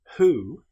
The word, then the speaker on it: who: However, with the word who, this is pronounced as if the W didn't exist.